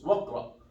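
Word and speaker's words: واقرأ: But as if it's like this. Wakara. It sounds like this, waqra. But actually the alif is here. We don't delete it, but we don't pronounce it. Pronounced like waqra.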